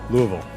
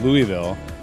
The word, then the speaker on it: Louisville: Louisville. Yeah, right. But that's because I've been taught. I think like when I was raised, it was Louisville, but Louisville. They tell me that's the right way to say it.